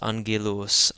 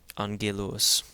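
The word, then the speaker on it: ⲁⲅⲅⲉⲗⲟⲥ: Here's a commonly used word where we have the first gamma in this word being pronounced as an N followed by a second gamma pronounced as a hard G. So this is angilus. Angilus means angel. Angillus.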